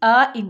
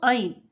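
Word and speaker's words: عين: And for ain is pronounced from this part, middle part of the throat.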